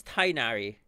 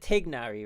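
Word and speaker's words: Tighnari: The pronunciation is Tainari. Yeah. I know, like, everyone said Tignari, right? I used to say Tignari.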